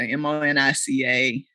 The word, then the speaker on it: Monica: And as you said, my name is Monica, but it's spelled like Monica, M-O-N-I-C-A. I prefer the pronunciation Monica. That was my mom's intention.